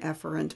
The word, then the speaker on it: efferent: So afferent in, efferent out. And it's actually pronounced afferent and efferent, but I'm twanging it up so you can hear the difference.